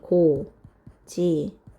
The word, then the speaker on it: 고집하다: 고집하다 같은 경우에는 발음이 고지파다. 이렇게 음운 변동이 일어나고요. 그리고 받침에 있던 히읗과 다음에 오는 히읗이 만나서 피읍으로 바뀌었어요. 요거 거센 소리 되기 이고 얘는 2개가 하나로 줄어드는 축약입니다.